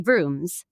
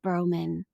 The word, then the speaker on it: Vrooman: admit to everybody that I mispronounced your name for years because you say Kelly Vrooms and then it's like and then one day years into our friendship, you were like, "It's actually pronounced Bman."